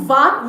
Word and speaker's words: vas: It's not vas. Don't pronounce the S.